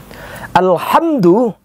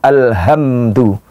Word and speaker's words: Alhamdulillah: pun juga akan benar tidak sedikit pula kita jumpai ada orang yang membaca yang seharusnya hurufnya H namun yang keluar jadi hak Jadi bukan Alhamdulillah keluar jadi Alhamdulillah Ini kesalahan pertama yang